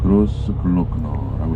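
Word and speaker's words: Großglockner: 이 오스트리아 같은 경우에는 이 가장 높은 알프스에 갖고 있는 산봉우리가 좀 발음하기가 좀 어려워요. 그로스 글로크너라고 이렇게 얘기해요.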